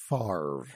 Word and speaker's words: Favre: about bruh five farv Brett Favre it's easier if you actually don't just look at it so if you can